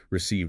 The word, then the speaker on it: Received: Received long e sound in the middle.